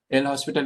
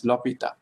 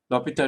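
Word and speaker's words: L'Hôpital: l hospital rule but l hospital is actually a french man and his name is pronounced as lopita lopita rule so uh the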